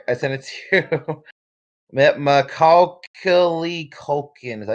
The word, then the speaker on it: Macaulay Culkin: He appears as the Macaulay Culkin?